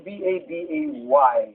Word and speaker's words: Babay: At ang carrier single nito ay B-A-B-A-Y. Na kung bibigkasin po ay babay.